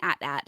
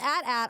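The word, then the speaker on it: AT-AT: in my head I was like what's an at at and then I was like oh it's it's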